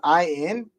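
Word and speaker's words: Ayn: mean corrected again I in her name is I in that's how you pronounce it come on surely you just I'm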